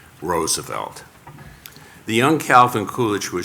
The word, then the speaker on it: Roosevelt: whose surnames American learn Americans learned to pronounce the Dutch way Roosevelt the young Calvin kulich